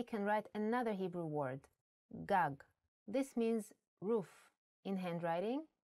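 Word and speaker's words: גג: written you might want to read it as gug there is no vowel sound in Hebrew the vowels are often not written you would know that this word is pronounced gag because it has been taught to you before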